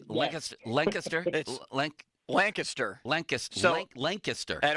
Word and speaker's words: Lancaster: Here is Matt in Lancaster, because it's Lancaster.